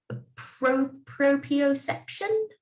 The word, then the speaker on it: proprioception: Proprioception. Proprio. Yeah, there's an extra R in it that one never thinks is there.